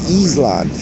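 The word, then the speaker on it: Ísland: Top level domain for Iceland is IS, because Iceland in Icelandic is Island. You would read it, it's spelled island.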